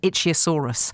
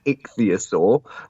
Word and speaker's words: ichthyosaur: me for calling you it's an itchy asaurus but it's not so it's an ichthyosaur which is from the